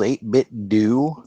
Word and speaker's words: 8BitDo: You're saying they call themselves 8-bit do? I believe Really? they pronounce it 8-bit do, from what I've heard. Although it looks like 8-bit do to me.